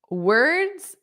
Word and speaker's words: words: Words and woods do not have the same pronunciation. They begin with the same W, w, were, but this OR is pronounced as were, words, words, and then woods, oods.